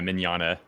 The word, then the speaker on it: Mignogna: You had the first time, yeah, Mignogna. Like, Mignogna? Okay. Yeah. I think that it's that one, and then I second guess myself, and I'm like, no, it's this way. So, Mignogna.